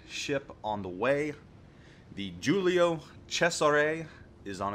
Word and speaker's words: Giulio Cesare: The Giulio Cesare is on its way, and that is how it's pronounced, or close to how it's pronounced. Maybe not exact.